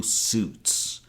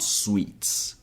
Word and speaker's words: Suits: I want you to remember that the letter I here is silent. So, we pronounce it as suits, not sweets.